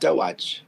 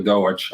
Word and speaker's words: DOAJ: Is it DOAJ or is it pronounced Doaj? So that's a good question. DOAJ and Doij is both good, but the French people prefer Doij, I think.